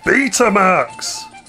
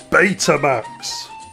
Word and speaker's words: Betamax: He said beta marks. What's wrong with that? It upsets the people who pronounce it Betamax. But the letters be are pronounced B as in I'd rather be talking about something else right now. No, it depends where you come from.